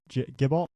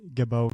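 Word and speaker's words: Gibault: I think we've been pronouncing it Gibalt or Gibalt, but he was talking to me, and I think it's Gibbo Catholic.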